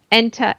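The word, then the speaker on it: Entei: legary yeah I heard hentai as well I'm like what were your parents showing you yeah e n t e I oh ente yeah ente ente hard my pronunciation the H is silent it it didn't it was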